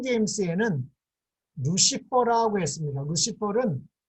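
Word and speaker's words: Lucifer: 루시퍼는 라틴어를 그대로 음역한 겁니다. 라틴어로는 루치페르입니다. 루치페르를 글자 그대로 영어에서 옮겨서 이거를 루시퍼라고 했는데 이 루시퍼 하면 한국에서는 발음이 힘들기 때문에 옛날에는 루스벨 그랬습니다.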